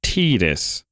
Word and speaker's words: Tidus: name Titus and then they're like, no, it's pronounced Tidus.